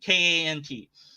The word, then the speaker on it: Kant: I don't know so however you want to pronounce it k k I don't know he's a German German name k a n t Emanuel Kant and he wrote this big old